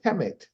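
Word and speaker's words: Kemet: then she says and how do you pronounce it she said chemet right right and then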